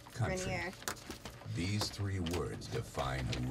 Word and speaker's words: Grenier: Oh, Adrian Grenier. Grenier.